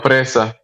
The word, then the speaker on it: fresa: Fresa. With the roll in the R.